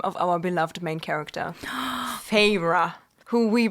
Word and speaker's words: Feyre: First, before we got the pronunciation guide, I kind of thought she would be pronounced like fair.